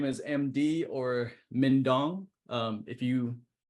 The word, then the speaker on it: Minhdoan: name is MD or mindong um if you if you don't know how to pronounce that it rymes with dingdong all right so you